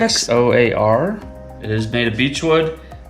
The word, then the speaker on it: Xoar: test we're using a zorr i think that's how you say it that's how it looks like you would say it xoar it is made of